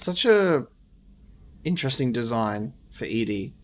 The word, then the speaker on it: EDI: why are you named edie edie is the phonetic pronunciation of edi that is an acronym for enhanced defense intelligence it's such a interesting design for edie it's not really anything